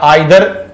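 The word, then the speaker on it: either: एक पेयर हम पढ़ते हैं इधर और, इसको इधर या आइदर प्रोनाउंस करते हैं, इधर और, नीदर नॉर।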